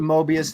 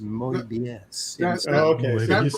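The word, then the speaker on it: Moebius: that he met Mobius and he called him Mobius and he said no no no it is mobus with an accent it makes sense that that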